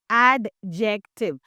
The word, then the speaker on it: adjective: So I have heard many students saying adjective. So it is not adjective. It is not adjective. It is adjective. Adjective, because the D is silent.